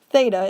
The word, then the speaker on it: theta: a squiggle line across it and that we pronounce as theta it's a greek letter and that's a common